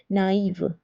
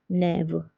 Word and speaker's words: naïve: Instead of saying oua, we are saying oi. Naïve, naïve. Without this accent, the word will become nève. That's the wrong pronunciation, so it's naïve.